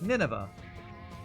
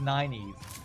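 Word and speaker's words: Nynaeve: pronunciations back there and there's a character spelled n y n AE v e and I was I was like Nineveh could it sound like a Biblical name and apparently in the back of the book it tells you it's pronounced nine Eve I'm like nine Eve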